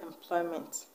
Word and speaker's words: employment: level and not understand what about the word employment the word employment is from the word employ the word employs it a verb or a noun is a verb so the stress will go away to the second level ploy so that's just a